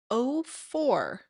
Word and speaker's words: Au4: Graham is bringing us 04 is the pronunciation here. It's spelled AU4, but I guess it's pronounced 04.